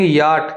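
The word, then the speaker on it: yacht: वाई ए सी एच टी याट। इसमें सी H silent word होते हैं। इनकी आवाज नहीं आती परंतु इसको याट बोलते हैं।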